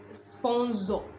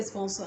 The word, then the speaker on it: sponsor: show were listening to made a statement and said sponzo she wanted to say sponsor that she says i